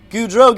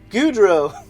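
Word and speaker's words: Gaudreau: into one but backs off not enough there goudreau gets around baldwin exiting turn two so now it's peugeot gudro pejo gudro baldwin wait too bad everyone doesn't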